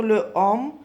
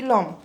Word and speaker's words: l'homme: Ici, j'ai une H muet. H muet يعني مش ملفوظة, صار في عندي وراها الأو. الأو voyelle, alors je mets apostrophe. J'enlève le E, je ne peux pas dire le homme, alors je dis l'homme.